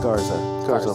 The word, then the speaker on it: Garza: Garza or Garza? Garza. Like the Texas, yeah.